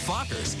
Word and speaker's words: Fockers: do you pronounce it oh just like it's spelled f-o-c-k-e-r Meet the Fockers in theaters December 22nd